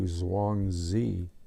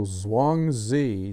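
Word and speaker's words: Zhuangzi: philosophical trappings of dosm so Zang Z spelled z h u a n g z Zang Z or it could be hang Z I'm not an authority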